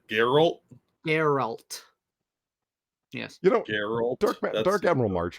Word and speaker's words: Geralt: I can't pronounce that Daryl Daryl that's how you pronounce it Geralt Geralt yes dark Admiral